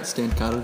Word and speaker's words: Stancato: Good friend Peter Stancato III. Yes. Am I pronouncing that right? Yeah, that's right. Stancato III.